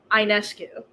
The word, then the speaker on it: Ionescu: I pronounce her last name Ionescu.